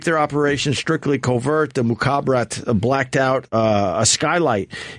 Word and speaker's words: Mukhabarat: Mukhabarat. Mukhabarat.